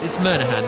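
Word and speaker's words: Monaghan: It's Murnahan. The G is silent.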